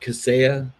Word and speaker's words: Kaseya: So that's how you pronounce that, Kaseya?